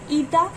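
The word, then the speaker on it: η: This is ईटा, ETA, ईटा pronounce करते हैं इसे, ईटा प्रोनाउंस करते हैं.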